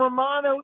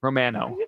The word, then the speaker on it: Romano: No, he ain't Romano. It's actually It's Romano. It's Romano. Yeah, I think we were saying it wrong. They corrected us on the broadcast. It's Romano, not Romano.